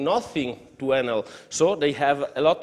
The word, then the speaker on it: Enel: Enel is, I think, in Italian we pronunciate it Enel.